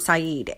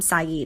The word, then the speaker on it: Saeed: The name of the author is Hossam Saeed, and we did have him on a few weeks back, maybe about a month or so ago.